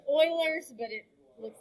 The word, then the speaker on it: Euler: last part of it but you would say oilers it's about e-u-l-e-r but i think it's pronounced oilers yeah it's oilers but it looks like it should not be